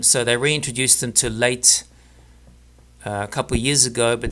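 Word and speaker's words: Leyte: And so it's possible there's only one Philippine eagle on the island of late L E Y T. I think it's pronounced late.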